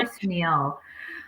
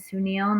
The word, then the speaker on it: Sunil: Poor Sunil. Yeah, our friend Sunil Singh will be here. Yes, on May 11th, and his name is Sunil, not Suni.